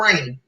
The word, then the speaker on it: Reign: She Is Still Dope, and put in the comments for Rain. Her name is spelled Reign. Rain like a queen, right?